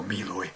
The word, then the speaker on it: Meloy: That's my take on the Porch Light from Josh Meloy, or Meloy, which is how you pronounce it.